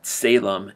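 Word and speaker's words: tselem: It's Salem, and it's spelled T-S-E-L-E-M.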